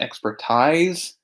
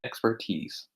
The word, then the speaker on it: expertise: say the words correctly pay particular attention to this word um expertise it is not expertise it's expertise okay so here we